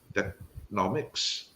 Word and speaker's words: Teknowmics: Now you talked about how you started in blockchain, and right now you are with how do you pronounce Technomics?